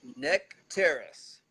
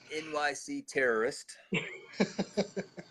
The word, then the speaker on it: Nycteris: Okay, so it is Neck Terrace Artistry, and it's spelled NYCTERIS _ artistry. It is not NYC terrorist, as somebody had asked me one time.